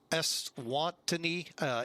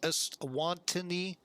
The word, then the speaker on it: Eswatini: Eswatini, I believe is how you say this. Eswatini.